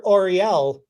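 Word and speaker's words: L'Oréal: see a r e no no it's it's pronounced or Orel which is in modern day time what we call the company Orel Orel okay and so is that that's the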